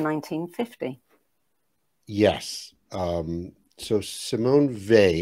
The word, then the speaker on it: Weil: was published in 1950 yes um so simone vay it's actually pretty they i checked and every